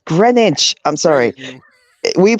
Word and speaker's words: Greenwich: Oh, bro, it's Greenwich. I'm sorry. We pronounce it Greenwich. It's pronounced Greenwich. I know it's spelled how it's spelled, but it's actually pronounced Greenwich.